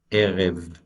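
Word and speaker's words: ערב: It doesn't have a dagesh, and therefore it's going to be pronounced as V for Victor, erev.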